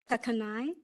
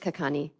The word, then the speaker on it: Kakani: El Jackson absent commissioner Melinda kakani kak kakai just kakani my apologies for mispronouncing your name thank you commissioner Samuel